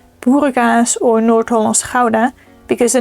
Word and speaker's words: Gouda: pronounce Gouda as well Gouda. So for everyone who is not Dutch, or for those that do not have a throat sound in their language, is not Gouda, but Gouda.